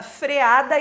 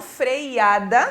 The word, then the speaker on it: freada: nh e não companhia ã freada e não freiada né porque vem da palavra freio que tem I Então o correto é sem o i né iogurte também as pessoas